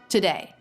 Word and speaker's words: today: much faster to to today and this tea can be a true t or a flap T he is making it a true tea so this word is today not today but today today today it's all